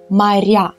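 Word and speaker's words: моря: since the emphasis moved the o became unstressed so we pronounce it as mariah so this emphasis change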